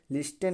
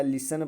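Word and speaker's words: listen: हैं ऐसा पढ़ते हैं लिस्टन नहीं पढ़ा जाएगा लिसन पढ़ा जाएगा लिसन का मतलब होता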